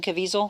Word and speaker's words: Caviezel: The actor, I never know how to pronounce, is it Jim Caviezel?